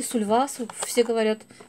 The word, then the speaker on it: Sulwhasoo: Следующее, что я вам покажу, это два набора от одной марки, от марки Сульвасу. Или Сульвасу, все называют по-разному, кто где ставит ударение. Мне как-то вот удобнее говорить Сульвасу. Итак, два набора, одинаковые, кстати, вот это наборы.